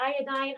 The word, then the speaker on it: iodine: Iodine is a great, people call it iodine. I call it iodine just because it rhymes with all the others.